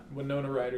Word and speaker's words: Winona Ryder: Winona Ryder, yeah.